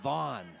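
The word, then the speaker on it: Van: Looks like V-A-N, but Coach Dono said he likes it pronounced Vaughn.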